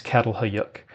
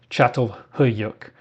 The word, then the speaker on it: Çatalhöyük: The mispronunciation is Çatalhöyük. If you don't want to offend Turkish people, you'll try to say Çatalhöyük.